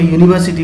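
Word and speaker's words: university: हम जब इसको इसका प्रोनाउंसिएट करेंगे इनको, तो इसको यूनिवर्सिटी पढ़ेंगे, इसको यूनिफॉर्म पढ़ेंगे, और इसको 1 रुपी नोट पढ़ेंगे। आप देखिए स्टार्ट हो रहा है हमारा लेटर जो है वो वॉवेल है, लेकिन यहाँ पर प्रोनाउंसिएशन में हमें कॉन्सोनेंट साउंड मिल रहा है। तो हमें ऐसे लोगों से ऐसे वर्ड से सावधान रहना है।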